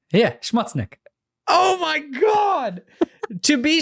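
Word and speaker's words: Schmutznik: name now no oh my god what it's shmudznick yeah schmutznick oh my god to be sure like to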